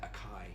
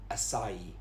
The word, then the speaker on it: açaí: I kept saying acai, acai, but it's actually açaí, açaí, açaí, açaí berry.